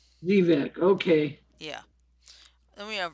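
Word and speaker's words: Xevec: I think that may be Zivek. Zivec? Yeah, it could be. How's it spelled? Xevvec. Well, it's Zebek, Zivec? but it's only spelled with one B as a rule. No, it's X-ray. X-ray Echo Victor Echo Charlie. Thank you. Zebek, okay.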